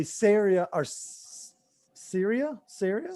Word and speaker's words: Ceria: i'm going to say syria arse syria syria syria rhymes with area syria like rhymes with